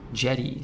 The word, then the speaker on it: Yeti: My country, the official dub pronounces it as Yeti. Jetty. So I grew up with that. Oh, no. Should move countries. Should move to a more respectable country where they pronounce it the way that everyone else pronounces it.